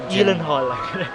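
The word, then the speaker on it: Gyllenhaal: ito yung starring Jake Gilen Hall yan ba Rebecca Ferguson Jake Elen Hall yun daw yun e propen Hall Swedish kasi yun eh parang yun daw yung proper pronunciation ng an oo ganun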